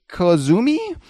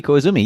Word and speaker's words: Koizumi: Reading Japanese it's sort of like Spanish. When it's translated into Western characters, you can basically they don't have different pronunciations for their vowels, so you can kind of, as long as you know what an O is and what an I is, you can just read it out.